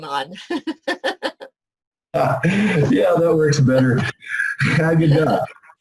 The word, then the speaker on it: Haggadah: Haggadah.